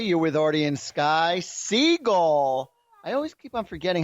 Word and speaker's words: Siegell: It's actually Siegell. Siegell? Yes, just like. What, did we turn French? No, it is. It's Siegell. It's actually like that actor, Steven Seagal. Yeah. That's the right way to say it.